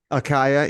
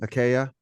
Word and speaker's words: Achaia: Achaia, either way. Achaia.